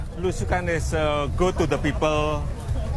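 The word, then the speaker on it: blusukan: Tell me about Belusukan.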